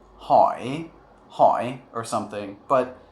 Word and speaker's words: hỏi: But in isolation, zo hỏi doesn't actually come back up. Or I'm sorry, when it's pronounced inside of words, it doesn't really come back up. It just kind of goes straight down and stops there.